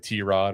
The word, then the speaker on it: Tyrod: It's not Tyrod anymore. It's like T-Rod or something like that.